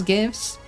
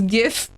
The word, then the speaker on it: GIF: It's a G. You pronounce it like a G.